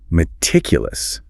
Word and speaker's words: meticulous: Then we have meticulous. Meticulous. Stress on the second syllable. That first syllable is a schwa sound.